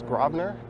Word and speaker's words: Grosvenor: And this street here, some will disagree with how I pronounce this, but it is Grosvenor, spelled Grsvenor Street.